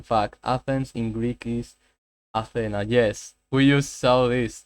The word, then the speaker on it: Athena: The goddess is Athena. Okay. Interesting. The stress is the last syllable.